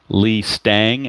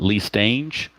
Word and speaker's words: Stange: with the Red Sox it is Lee Stang as in Mustang not Lee stange so I do have